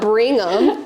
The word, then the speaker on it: Brigham: His name's not Brigham.